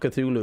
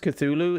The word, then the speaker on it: Cthulhu: It's not Cthulhu. It's like Cthulhu or some shit. What is it? Norse isn't the same. Yeah, apparently it's pronounced Cthulhu in English, but in the actual language of Cthulhu, it's something like Cthulhu.